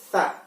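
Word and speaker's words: ث: Sedangkan kalau yang bentuknya sama seperti Ta dan Ba, tapi bedanya titiknya ada tiga di atas, maka kita bacanya Tha. Lidahnya ada di tengah-tengah gigi.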